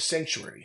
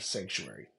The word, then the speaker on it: Psanctuary: and Lead minister of sanctuary spelled with a p like psilocybin which is a sacred